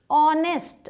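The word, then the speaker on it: honest: ए का उसे किया लेकिन यहां जो हा है इसका साउंड है ऑनेस्ट आप क्या बोलते हैं इसे ऑनेस्ट तो जो पहले लेटर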